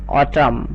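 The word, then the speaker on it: autumn: মানে August must তেমনি করে আমরা বলতে পারি অটাম অটাম মানে হচ্ছে শরৎ বা শরতকৃত।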